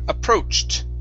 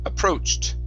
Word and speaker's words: approached: Here we have the word approached. Approached with the T sound at the end.